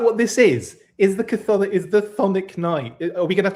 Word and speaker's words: chthonic: I think you're supposed to say Chthonic. Chthonic. But I say Chthonic because, I mean, we're CH people. Chris's are very exactly. Is that what this is? Is the Chthonic Knight?